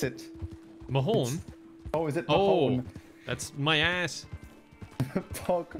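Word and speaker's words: mo thóin: I don't know how to pronounce it. Mahon? Oh, is it Mahon?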